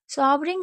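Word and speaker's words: sovereign: तो सॉवरिंग, सॉवरिंग इसलिए पढ़ा गया है क्योंकि कहीं पर भी अगर ई आर होता है बड़ी वर्ड मीनिंग में, तो ई को साइलेंट रखते हैं।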